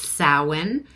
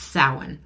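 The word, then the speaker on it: Samhain: you that's what we call it okay it's pronounced sa okay I know it's spelled samine but that's it's pronounced sa okay all right so we're going to look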